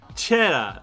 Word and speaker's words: Čeda: Čeda, like, kind of similar to the cheese, but don't say the R.